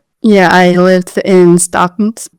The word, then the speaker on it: Stockton: Yeah, I lived in Stockton. The Stocktonian accent doesn't really pronounce the T. Stock.